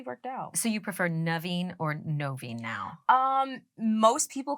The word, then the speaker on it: Noveen: So people will see it and think it's Noveen, which is totally fine. But correct pronunciation is Naveen.